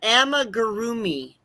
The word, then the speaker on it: amigurumi: And amigurumi crochet.